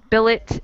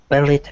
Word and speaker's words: billet: The first, we pronounce the T, and the second, we don't pronounce the T.